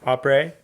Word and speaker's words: après: Après.